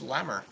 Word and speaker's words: Lemmer: I think that's Willis Lemmer. I just got told that that's how you say his name, and I thought it was Lemmer.